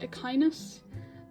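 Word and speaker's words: Echinus: I guess the actual word, like, Ekanus means sea urchin, I believe. But I think the actual word is pronounced Ekinus, but I call her Ekanus because it's her name and I can choose how it's pronounced.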